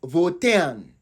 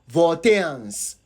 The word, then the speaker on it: Voltaian: So the UN is pronounced an. So it is Voltaian. Please pay attention to this so that you don't go ahead and be pronouncing the wrong thing. So the correct demonym for people from Volta region is Voltarians. So the Voltaian is spelled VOL. I'm starting again. VOLTAIAN. Voltaian. As in Ghanaian or Ghanaians.